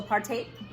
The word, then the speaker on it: apartheid: I think it's like 5-minute video on apartheid, pronounced also apartheid.